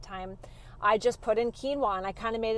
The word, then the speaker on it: quinoa: post earlier today about quinoa and I remember when I first heard about quinoa my girlfriend Sabrina I'm gonna call you out on this one I remember trying to pronounce it as Quin OA cuz I had no